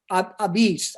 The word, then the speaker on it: apizza: family over but they the only way they could pronounce it was a beast uh you know not la pizza it's but it's a b so they they dropped the l they kept the a and they just said beets obese i've even